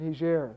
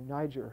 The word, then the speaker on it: Niger: So it boiled down to the one poor, tiny, not really tiny, but certainly very poor, country of Niger, or Niger, however you'd like to pronounce it.